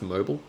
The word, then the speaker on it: Mobile: Is it pronounced mobile, or how do you pronounce it?